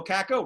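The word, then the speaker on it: Kakko: And Capo Caco, Rabbi, am I pronouncing that correctly?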